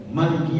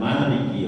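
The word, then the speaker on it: مالك: Dua-duanya adalah sahih. Dua-duanya adalah mutawatir di dalam qiraah sabah. sehingga kita nanti enggak usah dan enggak usah ah enggak usah salatnya. Tadi imamnya bacanya pendek kok Maliki yaumiddin gitu. Sebagaimana kalau di surat Annas memang Malikinya adalah pendek ya malikinas gitu ya. Di Fatihah panjang Maliki yaumiddin.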